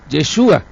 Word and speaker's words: Yeshua: Entonces, cuando nosotros venimos a la palabra, el que habla en hebreo es el mismo Mesías y a su nombre lo pronuncia así, Yeshua.